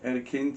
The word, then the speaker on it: Erkin: So it went from Erkin, yeah, which is how it's pronounced in Turkish, Erkin, to Eggin to.